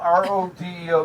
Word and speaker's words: Rodeo: It's spelled R-O-D-E-O. To me, that's a rodeo. I don't care what anybody says. It's a rodeo.